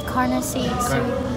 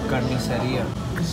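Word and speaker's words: carnicería: Carniceria. Carniceria.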